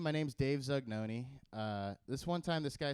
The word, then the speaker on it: Zugnoni: And I said, Dave Zugnoni.